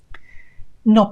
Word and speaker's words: no: in the spelling, but in Spanish the pronunciation is no. No. With no diphthong there, no two vowel sounds, just the one vowel sound. O. No.